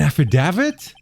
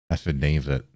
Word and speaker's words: affidavit: Affidavit. Affidavit. Affidavit. You don't pronounce the T.